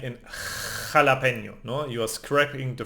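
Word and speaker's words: jalapeño: Always like in jalapeno, no? Scraping your throat again, jalapeno, no?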